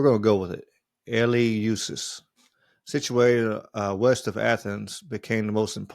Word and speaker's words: Eleusis: Eleus, Eleusis. I guess that's how you say it. I don't know. It don't have a pronunciation next to it, so we're going to go with it. Eleusis, situated west of Athens, became the most important